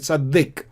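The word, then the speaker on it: צדיק: Before the Dalet, there is a patach sound, vowel, short vowel sound, and therefore we pronounce it Tzaddik.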